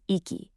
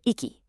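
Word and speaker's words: 行き: For our verb, this form is iky or iky.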